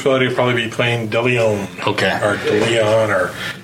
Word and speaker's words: De Leon: Some people just like to put the pronunciation in the wrong spot. De Leon.